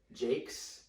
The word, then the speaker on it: Jacques: You can say it different ways. The way my whitewash family does it. Shout out to y'all. Is Jakes, but it's spelled Jacques. So Jacques.